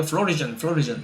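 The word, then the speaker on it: florigen: 그래서 이제 이름 자체를 독일 생리학자들이 이것을 만들어서 플로리겐인데 사실은 영어권 학자들은 이거 플로리전 이렇게 발음을 하고 있는데 개화 신호 분자라는 얘기죠 역시.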